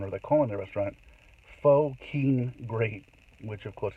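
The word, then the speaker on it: phở: So a lot of Vietnamese, I think it's pronounced pho, but it's Pho, pho.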